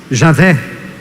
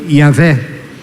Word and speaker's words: Javé: As 4 letras, o nome revelado a Moisés, que tradicionalmente se diz Javé ou Iavé.